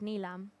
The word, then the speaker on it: Nilam: So I growing up, I was born here, and growing up I was called Neelam at Yeah. school, and then of course the jokes of Neelam because my name's Nilam. At home it's pronounced Nilam.